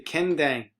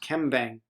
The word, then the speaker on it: kendang: The kendang, sometimes it's pronounced kembang, has the function of